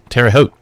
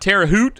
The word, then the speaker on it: Terre Haute: Terre Haute. Rhymes with boat. Oh, okay. It's in Indiana of all places. So. Wow. The things you learn on a podcast like this, right? It's not Terre Haute and rhymes with boot.